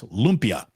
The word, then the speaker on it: lumpia: I was told, again, it's not a 3-syllable name. It's lumpia.